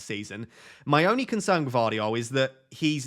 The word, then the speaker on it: Gvardiol: So in second, I do have Gvardiol. Gvardiol? Do you pronounce the G? Do you not pronounce the G? It's like a soft G.